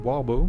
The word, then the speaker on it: Oribo: Uh I'll be running Warbo because I pronounce it as the French way since I'm French.